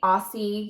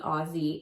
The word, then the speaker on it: Aussie: has seen the light I say Aussie usually but I've been told I'm saying it wrong it's really aussy instant freeze hairspray yes